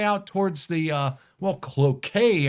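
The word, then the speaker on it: Cloquet: And that would be all the way out towards the uh well Cloet area otherwise pronounced Cloette for some of us.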